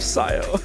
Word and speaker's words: Scio: for I totally realized I said Kio instead of Scio I'm losing it I'm